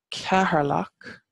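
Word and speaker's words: Ceatharlach: um Carlo them so Carlo it comes from Carol lock which is the place of the herds and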